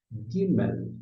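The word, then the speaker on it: ג: Mas veja bem, Gimel é a próxima letra. Essa letrinha aqui é Gimel. E note que Gimel se escreve com o quê?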